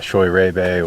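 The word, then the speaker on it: Scheurebe: A small planting of Riesling, which I think is underappreciated as well, and Choy Rebe, which is a cross of Riesling and Sylvaner, or thought to be a cross of Riesling and Sylvaner.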